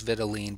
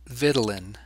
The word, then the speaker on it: vitelline: I learned it as vitelline, but it's often pronounced vitelin, like Ritalin. Vitelline duct or vitelline duct. There's a ton of ways to pronounce it.